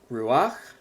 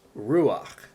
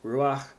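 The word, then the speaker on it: רוּחַ: It's the word for breath, wind, or spirit, ruach. So, and that is a word where the accent is on the first syllable, not the last syllable.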